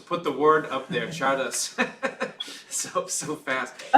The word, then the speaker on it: Czardas: Yeah, that one is, I just learned it as a Hungarian gypsy Chardas, and Chardas is spelled Czardas, and it's characterized by